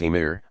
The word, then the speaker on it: amir: Not long after Arab troops began to occupy the Iberian Peninsula, Muslim princes, called amirs, literally commanders, pronounced emir, established themselves in major cities.